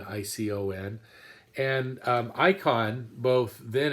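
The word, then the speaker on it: εἰκών: o n uh but pronounced just like our word icon icon and um icon both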